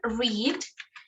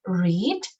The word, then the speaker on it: read: The verb read is very different or very curious because in present we say read, but in past we say read. Okay, it's written the same, se escribe igual, pero cambia la pronunciación del verbo. En presente es read y en pasado read.